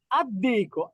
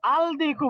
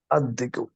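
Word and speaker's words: الدِّيكُ: বলেন দিকুন কি হবেন আদ্দিকু আলদিকু বলা যাবে না লামটা উচ্চারণ হবে না কি হবে আদ্দিকু রাইট জাহাবুন কি হবে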